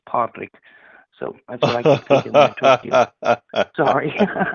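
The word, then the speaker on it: Pádraig: name is Patrick and the Irish way to pronounce Patrick and Gall is padrick so that's what I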